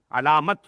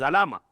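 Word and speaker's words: علامة: What is alama? Alamat. Something with which you can recognize something, which becomes a symbol for something. So that is alamat or alama, as we should pronounce it in Arabic.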